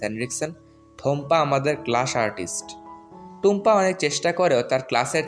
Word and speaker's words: টুম্পা: অন্য কেউ হলে টুম্পা রায়হান না বলে বলতো থম্পা রায়হান।